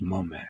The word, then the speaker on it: Mame: Mame is pronounced Mome.